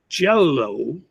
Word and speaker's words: jello: words, I'm sorry, when we say the words jello and yellow.